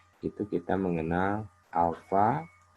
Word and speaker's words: alfa: Ya, dibaca alfa.